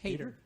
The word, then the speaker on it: Hayter: How's it pronounced? Hayter.